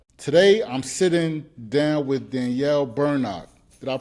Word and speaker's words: Bernock: Today, I'm sitting down with Danielle Berno. Did I pronounce that right?